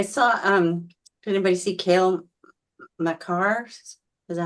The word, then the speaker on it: Makar: I saw, did anybody see Cale Makar? Is that how you Oh. say his name? Oh yeah, Cale Makar, right.